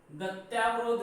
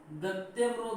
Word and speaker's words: गत्यवरोध: अशुद्ध शब्द यही है, गत्यावरोध नहीं होता। शब्द क्या होता है, गत्यवरोध होता है, और हम उच्चारण के अनुसार हमारा जो उच्चारण अशुद्ध होता है इसलिए हम शब्द बोलते हैं गत्यावरोध।